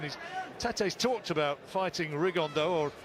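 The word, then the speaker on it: Rigondeaux: today's talked about fighting rig on though or as he's correctly pronounced with the Spanish accent rig on Dow and shoe absolute geniuses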